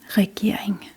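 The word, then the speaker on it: regering: There are two rs in this word. One in the front r e re. The r e sound is re re. And again, the second R is pretty much silent in this wording.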